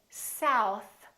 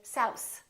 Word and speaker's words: south: Some people, instead of saying south, they say souse, souse, because they're pulling in their tongue too much. So make sure that your tongue touches the teeth.